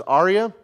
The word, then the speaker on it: ARIA: Another technique is ARIA, or you may have heard why ARIA. It's the Web Accessibility Initiative for Accessible Rich Internet Applications, often just pronounced as ARIA.